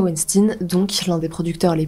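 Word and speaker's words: Weinstein: cinéma Harve wensstein et me dites pas n ça se prononce Winstein parce que pour une fois j'ai regardé la prononciation sur Internet HERV wnstein donc l'un des producteurs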